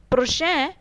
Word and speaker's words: prochain: For example, la prochaine semaine. Semaine is a feminine noun. So, prochaine in case of feminine noun. Prochain. Prochain in case of masculine noun.